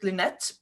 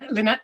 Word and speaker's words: Leonet: Yeah, I'm gonna let you pronounce that name yourself because I pronounce it Leonet, but I'm not sure if that is correct. No, that's just fine. Leonet.